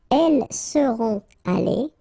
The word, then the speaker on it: allées: So you'll put this s. You don't pronounce it, but still you need to put it. Okay? Elles seront allées.